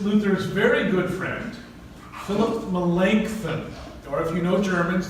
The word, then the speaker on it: Melanchthon: And this is Luther's very good friend, Philip Melanchthon. Or if you know Germans, they'll pronounce it Melanchthon. They're wrong, because he would have said it like a Greek. It's Melanchthon.